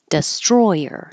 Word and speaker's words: destroyer: Destroyer, in the middle, destroyer.